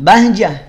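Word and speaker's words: بهجة: Nah, bahjah, kenapa tak marbutoh dibacanya ha? Itu kan tak kang, ya, saat tak marbutoh kita wakaf di tak marbutoh, maka tak marbutohnya ganti jadi bunyi ha.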